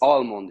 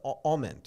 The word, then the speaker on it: Aument: Yes, a lot of people think that is that is Almond here, like the how do you No, no, say? no, no, no, no, no. No, you don't think so? Almond, is um, that how? That's not how you pronounce it.